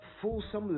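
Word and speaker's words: fulsome: or pays exaggerated compliments so you could say victor's full some letters did not convince zoe of his love and that would be saying it right all right so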